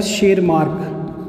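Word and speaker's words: Tschermak: Correns, Hugo de Vries और शेरमार्क। T silent है बेटा इसमें।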